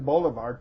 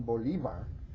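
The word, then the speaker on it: Bolívar: about him um and he was Simon Boulevard to my father um but when I corrected him and said no dad you pronounce it Simon Bolivar I got in big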